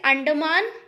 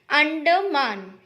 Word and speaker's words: Andaman: of first island is andaman a-n-d-a-m-a-n andaman okay again listen to the pronunciation first island name is under man okay a n d a m a n anderman and the second name